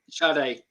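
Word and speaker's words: Sadè: Sade. Yeah. Yeah, okay. All right, yeah. Dude, next time we'll get you to say it. It's fine. Because I just forget. Because I just look at it, Sade.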